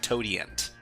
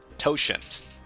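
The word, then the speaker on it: totient: I think it's like quotient to not toant.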